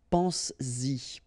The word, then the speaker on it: pense-y: to produce it orally, because you will pronounce it pense-y, pense-y, okay? Pense-y, all right? So you get to make this liaison.